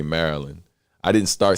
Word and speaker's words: Maryland: right yeah man we we say it like we're saying the magician's name merlin we don't really say maryland i didn't start saying